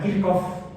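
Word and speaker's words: Kirchhoff: eran eh gust k k se pronuncia kirkov por kirov en alemán y porque alemán no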